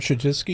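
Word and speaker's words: Chudzinski: Rob Shajinsky.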